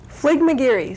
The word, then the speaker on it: Fligmagearie: Pat, would you pronounce the name of your group? Fligmagearie Scottish Step Dancers.